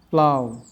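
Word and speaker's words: plough: English ওয়ার্ডে আয়ের পর জিএইচের উচ্চারণ হয় না, যেমন হাই, থাই, সাই, দো, প্লাউ, নে, বাউ।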